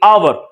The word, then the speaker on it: hour: Some words do not pronounce the sound of H, जो ignore ही कर देते हैं। Example है सर honor, honesty, hour.